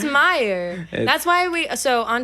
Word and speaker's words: Mayer: It's Meyer.